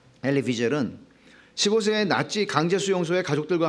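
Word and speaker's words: Elie Wiesel: 그는 엘리 비젤은, 영어권에서는 엘리 위젤이라고 읽는데, 엘리 비젤은 15세의 나치 강제 수용소에 가족들과 함께 끌려가서 가족들의 죽음을 다 경험했습니다.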